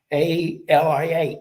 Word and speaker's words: Eatalia: But it's pronounced Italia. Eatalia. Eat Italian.